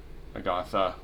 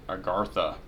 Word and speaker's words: Agartha: we are now seeing and Agatha I keep mispronouncing that I got the agartha excuse me and we've we kind